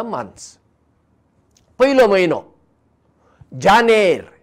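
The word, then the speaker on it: Jun: पयलो म्हयनो जानेर. स्पेलिंग पळया, जे ए एन ई आर, जानेर, जानेवारी.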